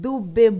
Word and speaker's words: Dube: As our African Hero series bulletin says, Lucky Philip Dube, pronounced Dube, born on the 3rd of August 1964 at Emolo, Transvaal, now called Pumalanga.